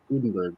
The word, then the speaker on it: Udenberg: make a difference today my guest is Jenna uddenberg welcome to the show thanks thanks for having me Erin absolutely did I pronounce your last name right you did awesome